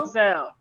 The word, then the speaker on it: Roselle: book expo in, how do you pronounce the city? In Roselle? Roselle, Roselle, New New Jersey.